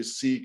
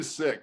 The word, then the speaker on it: Sikh: says sick and uh a lot of people would say seek and i was gonna say isn't it secret it's actually sick in punjabi in punjabi they they pronounce it uh sick the same way we would say you know i got sick whatever um but uh